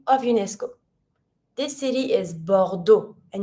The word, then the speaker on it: Bordeaux: This city is Bordeaux, and you don't pronounce the X.